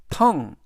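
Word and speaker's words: tongue: 들어 있고요 gu는 이번에는 예외적으로 응 그래서 전체적인 발음은 텅 텅 텅이라고 발음하시면 되겠습니다 품사는 명사 뜻은 혀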